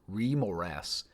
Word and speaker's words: Remorhaz: In the merciless frozen expanses of the wastelands in the north, while bliss rage and ground conceals untold horrors, the remaras, pronounced remmoras, reigns as an iconic terror known also as the polar worm or ice worms.